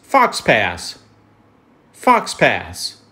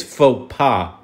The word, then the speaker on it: faux pas: words to pronounce and this one is fox pass I'm messing with you it's faux pas faux pas and it's an action